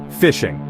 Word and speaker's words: phishing: First up is the most common and oldest trick in the book, fishing. And yes, it's spelled with a ph like a phone, but it works exactly like fishing.